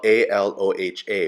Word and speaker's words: aloha: o u o example aloha is spelled a l o h a but you always hear aloha you can hear it right it's like oh yeah so the letter